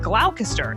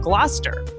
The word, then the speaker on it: Gloucester: Like originally, I said Glalcaster instead of Gloucester.